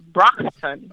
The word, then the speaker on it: Brockton: Brockton yeah the pronunciation like you know the Brock Brock Lesnar which was a wrestler and a ton Brockton Brock Brockton Massachusetts wicked